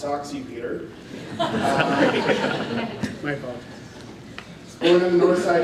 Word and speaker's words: Sasche: Two Rivers native, and the last name is pronounced Soxy Peter.